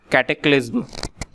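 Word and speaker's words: cataclysm: Next कैटेक्लिज्म। इसकी pronouncing जो होगी हमारी कैटेक्लिज्म होगी, और इसका मतलब होता है हमारा दुर्घटना या प्रलय होता है इसका मतलब।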